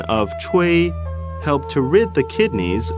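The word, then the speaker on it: 吹: The pronunciation of chui, ch, is pronounced as the ch in the English word Chinese, and wei similar to a in wei.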